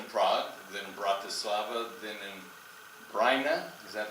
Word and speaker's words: Brno: in, first in Prague, then Bratislava, then in Brno, is that how you, Brno? Brno. I mispronounce it every time, thank you.